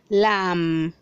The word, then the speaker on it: lamb: 240 says 241 says lam lam the bee is silent don't say lamb say